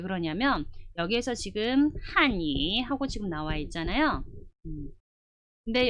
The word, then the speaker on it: 汉语: 그래서 한유 이렇게 해줘야 될 발음이 어떻게 되냐면 아니 이렇게 발음을 바꿔버리거든요. 이렇게 되면 전혀 의미가 달라집니다. 한유 타성을 해서 읽어주게 되면 중국어라는 표현이 되지만 반대로 한이 이렇게 읽어버리시면 여러분들 그 표현은 한국어라는 뜻이 되는 거예요.